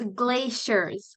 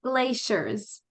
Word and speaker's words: glaciers: word glaciers right here this is pronounced um like a sh so it's glaciers glaciers and this is glacial